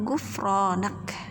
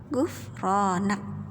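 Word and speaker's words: غفرانك: Doanya sedikit tuh, ada tulisannya Gufronak. Apa bacanya? Gufronak. Sekali lagi, Gufronak.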